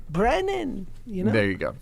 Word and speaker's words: Brennan: say it like this people say Brenner all the time Brennan you know there you